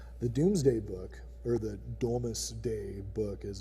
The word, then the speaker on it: Domesday: But since we're talking about these things, the Doomsday Book, or the Domesday Book as it's actually pronounced, is a collection of business records from, I think it's like the early 1200s, or maybe even before.